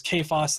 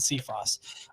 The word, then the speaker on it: Cephas: Cephas who Cephas kfs I've heard it pronounced both ways so stop giving me about how not not used specifically but I've seen it expressed both ways Kay Faust and see Frost's either way that you pronounce